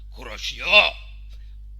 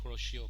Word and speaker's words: Kuroshio: it's not kuroshio current it's a japanese name uh in japan it's pronounced as kuroshio i'm just joking kuroshio in japanese means black currant so we don't need to say corrosion current we just say